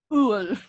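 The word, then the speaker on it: Öl: Ul. That's it? Just 2 letters? Well, it's more about the pronunciation.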